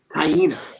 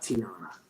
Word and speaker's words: Taina: Taina, not Tiana. Taina, right? Am I getting the name? Taina. I think it is. I think it is pronounced Taina. Taina.